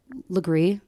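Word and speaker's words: Lagree: But I was at our fitness studio, and it's Legree.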